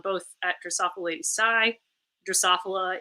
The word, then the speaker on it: Drosophila: Drosophila is the name of the fruit flies that I study, so that's why my name sounds weird, and that's how you say it.